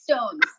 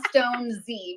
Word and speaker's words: Stonez: I feel like I've been it's Stones. It's not Stone Z, by the way.